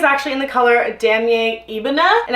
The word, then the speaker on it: Ebene: So my bag is actually in the color Damier Ebene, and I've been calling it Ebonine ebonine for the longest time, and that is totally incorrect. So that's how you say it.